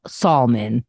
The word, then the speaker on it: Salman: a stupid point but somebody's name was spelled like salmon and it's Salman you pronounce it Keith pronounced